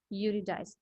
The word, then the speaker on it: Eurydice: The name is Eurydice. E is silent, Eurydice.